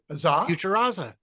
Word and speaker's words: Futuraza: Future AZA. How do you pronounce it? Futuraza. Futuraza. The idea is I looked